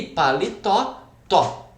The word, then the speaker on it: paletó: Jabuti, o ti e paletó, tó.